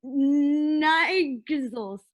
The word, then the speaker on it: Niles: minutes to explain why you got this man's name wrong? NIG, and then under it is Niles. So Niles.